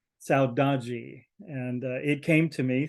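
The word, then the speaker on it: saudade: is a Portuguese word as she said it's pronounced saudagi and it came to me through music it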